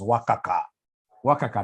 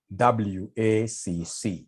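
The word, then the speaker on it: WACC: can somebody remind us here there's somebody who pronounced this as waka waka no it's supposed to be wac to get w we normally take the weight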